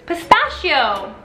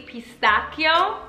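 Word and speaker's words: pistacchio: Bruce get da Bruce cata because Italians do pronounce eh cup like a K pistachio right pistachio we like pistachio ice cream the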